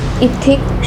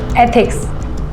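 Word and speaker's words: ethics: एथिक्स should एथिक्स नहीं एथिक्स। ऐसे pronounce करो।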